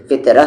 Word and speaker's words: فطرہ: کہتے، روزہ کہتے ہیں۔ فطرہ نہیں کہتے ہیں، فطرہ کہتے ہیں، یعنی یہ ہا ہے لیکن اس کی آواز الف جیسی ہوتی ہے۔ جیسے یہاں پر مکہ لیکن آپ کیا کہیں گے؟